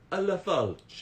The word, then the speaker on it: Lafalce: All right, I'm going to bring on the call Jessica Lafalce, or sorry, she also said I can pronounce it the Italian way, which is Jessica Lafalce.